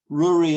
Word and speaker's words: Rory: to the gallic ruri they say Rory as in Brewery that's how you pronounce